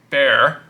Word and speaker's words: Bexar: is the tactile knifeco bear pronounced bear but spell v-e-x-a-r was serialized so i